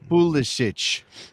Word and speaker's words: Pulisic: media today in Milan, he said, when asked about the pronunciation of his name, that it's supposed to be Pulisic. Now, the actual quote, by the way, is, given we're so close to Croatia, we should probably say Pulisic.